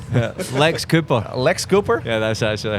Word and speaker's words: LXAPR: Yeah, Luxaper. Lex Cooper.